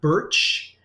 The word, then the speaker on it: Bertsch: b-l-a-i-n-e and hopefully i'm pronouncing the last name correctly uh birch uh am i even close that's exactly right yep perfect b-e-r-t-s-c-h what's